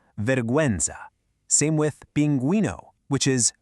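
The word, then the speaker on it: pingüino: Same with binguino, which is binguino. Those two little dots literally give the u its voice back.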